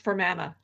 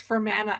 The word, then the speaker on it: Fermanagh: I have no comments, except it's pronounced Fermanagh. Pardon? I have no comments. It's pronounced Fermanagh Avenue, based off the county of Northern Ireland.